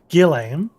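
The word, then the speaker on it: Guillaime: short time since inquisitor golemaine uh guillermo i we decided how to say his name earlier gillam arrived in coerthus countless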